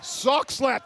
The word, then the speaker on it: Soxhlet: How are we pronouncing that, Steve? Soxhlet.